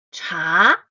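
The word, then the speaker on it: 茶: So t in Chinese is cha and it writes in the way I put it here. If you remember there are five tones in Chinese ping pronunciation. Cha here is with the tone two cha cha from pitch middle to high.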